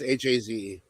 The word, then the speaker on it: Hayze: Well, the Angel Hayes wrestler is spelled Hayze. Okay. No, it's Haze.